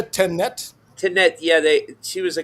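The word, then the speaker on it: Tanit: Tanet.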